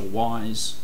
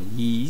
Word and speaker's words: Ys: have two CD titles which are wise or ye as it's properly pronounced sorry one and two